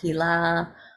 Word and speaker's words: Hila: Hila is spelled with one L. It's also pronounced Hila.